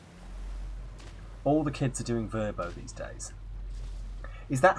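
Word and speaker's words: Vrbo: the kids are doing verbo these days is that how it's pronounced or is it another diplodocus situation apparently verbo v-e-r-b-o was the pronunciation guys strange feeling the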